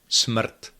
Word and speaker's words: smrt: Smrt, smrt, that's death.